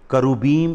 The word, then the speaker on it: करूबीम: जिसे करूबीम इसकी सही प्रोनाउंसिएशन है, बट the original word is खरब, खरबीम।